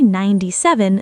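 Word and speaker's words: ninety-seven: 7 has sev, n, 2 syllables, but when we say 97, the second syllable basically disappears. Listen, 7. It's super short.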